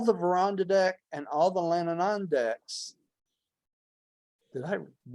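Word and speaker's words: Lanonandek: So all the Verandadek and all the Lananandeks, did I pronounce that?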